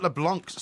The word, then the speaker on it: LeBlanc: he says Porky Matt leblanc's surname is pronounced to rhyme with Blanc not with plank new plank yeah I